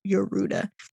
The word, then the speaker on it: Yorda: he comes across uruta it's spelled yorda but it says a pronunciation as you read your Ruda a captive girl who